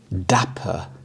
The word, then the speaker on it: dapper: Dapper. Dapper. The stress is on the first syllable, dapper.